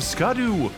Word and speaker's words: Scadu: hard and radiant landscape of scadu scadu it's pronounced Shadow alus a beautiful domain